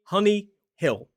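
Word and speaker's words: Hunnyhill: Now, this school is spelled H U N Y H I D L. Honeyill.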